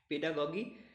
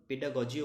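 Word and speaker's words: pedagogy: Next দেখো কী রয়েছে পেডাগগি, পেডাগগি কিন্তু এটার উচ্চারণ পেডাগজিও বলা হয় কিন্তু অ্যাকচুয়াল আমরা এখানে করব পেডাগগি।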